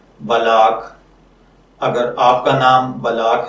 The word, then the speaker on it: بلاق: बलाग की उर्दू इमला में जो हर्फ इस्तेमाल होते हैं वो हैं बेज़बर लाम बल, लाम लिफ ला और कॉफ नुक्तों वाला साकिन है इसमें।